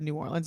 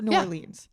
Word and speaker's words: New Orleans: Well, this is just my head cuz you just said New Orleans. You're obviously from there. Am I saying it right? New Orleans or New Orleans? I say New Orleans, but some people say New Orleans.